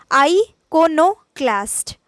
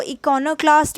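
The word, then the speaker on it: iconoclast: Moving on, next word, इसका pronunciation सबसे पहले देखिए, आइकोनोक्लास्ट। आइकोनोक्लास्ट, अब आप इसको इकोनोक्लास्ट भी बोल सकते हैं चाहें तो, उतना सही नहीं जाएगा वो, क्योंकि उतना एक्सेप्टेंस उतना ज़्यादा नहीं बोलते।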